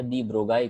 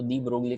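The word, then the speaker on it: de Broglie: Okay, but दी ब्रोगली कहो या दी ब्रोगाई कहो, उस बेचारे को कोई फर्क नहीं पड़ता है। और जब आप लिखते हो तो दी ब्रोगली का वही स्पेलिंग लिखना है।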